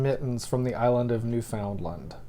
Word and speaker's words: Newfoundland: from the island of newfoundland wait how do they see it newfoundland no we say newfoundland americans say newfoundland but i don't think that's how canadians say it well anyway it doesn't